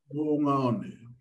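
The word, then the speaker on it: Moʻungaʻone: and gosh, I do not know how to pronounce that word. Would you like to say that for me, Edmund? Mungaone.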